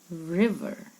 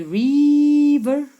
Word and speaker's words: river: This word is a word that a lot of us say wrong. River. It has a short I sound, a short E sound. River. Okay, don't say river. It's a river.